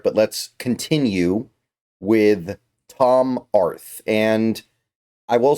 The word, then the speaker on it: Arth: So Tom Arth, yes, that is his name. I didn't misspell it. I didn't leave off the UR at the end. It's Arth.